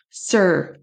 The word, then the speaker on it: sir: E et on n'entend quasiment pas le R. Sir, sir. C'est vraiment pas du tout sir.